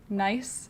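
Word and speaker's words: gneiss: thing okay thank you how do you sp pronounce gnias nice nice nice nice like gnocchi oh here's another one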